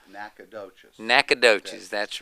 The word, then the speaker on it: Nacogdoches: is a love song, Well, where I'll I pronounce come it from, correctly. It's Nacogdoches.